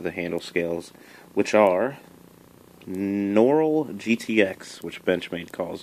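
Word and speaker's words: Noryl: it because of the handle scales which are noral GTX which bench made calls it noral is spelled n o r y l GTX so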